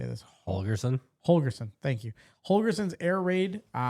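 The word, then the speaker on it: Holgorsen: Holgerson, thank you.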